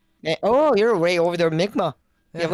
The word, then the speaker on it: Mi'kmaq: Like I mean, I probably would pronounce the name like usually would have said Micmac, but like I know that's probably not the correct pronunciation. But No, yeah, that was Mi'kmaq.